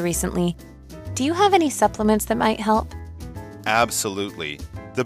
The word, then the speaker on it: supplement: Lisa 的梦想是成为一名营养师，并且帮助外婆早日恢复健康。接下来我们看到名词 supplement 指营养补充品、增补物。像是 Pregnant women often take supplements on their doctor's advice.